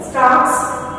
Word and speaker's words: stalks: Stocks, STALKS, here L is silent.